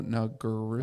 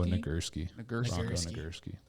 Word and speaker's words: Nagurski: know don't know oh no i can't even pronounce it bronco nugger oh nagurski there you go you guys that that doesn't